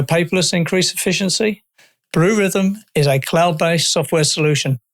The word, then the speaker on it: Rithm: That's where rhythm is spelled RITHM, like algorithm.